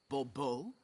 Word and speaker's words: de Bobo: fine Monsieur de Bobo the emphasis falls on the last syllable Bobo mm-hmm see now I'd